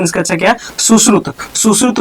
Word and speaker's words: सुश्रुत: क्या कहते हैं यहाँ पे, सुश्रुत, ठीक है, प्रोनाउंसिएशन इसका अच्छा क्या, सुश्रुत।